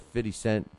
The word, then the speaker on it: 50 Cent: I learned how, my boxing listeners taught me how to say it's not 50 cents. It's not 50. It's 50. It's 50. 50 cent.